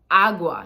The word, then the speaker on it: agua: that we drink right so agua not I guess I think most people get this one pretty good but un agua or una bote agua agua not agua agua right so it's a little subtle distinction between where we're emphasizing the word um fear okay this